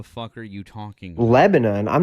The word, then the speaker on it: Lebanon: on anything since Hiroshima or some shit on Lebanon.